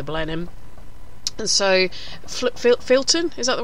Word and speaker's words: Filton: the Beaufighter the Blenheim and so flip filt Filton is that the right way to pronounce it Filton was alright a target for the left during